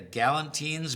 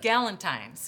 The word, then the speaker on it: Gallentine's: I now I'm I'm going to take Is that a Gallentine's book fair? How do you pronounce that? Gallentine's.